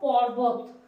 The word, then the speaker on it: পর্বত: অটা লেখা হয় না লিখলেও চলে এরপরে দেখ পর্বত পর্বত রে পাছে কিভাবে উচ্চারণ করছি পরবত তাহলে আগে আসছে পর তারপর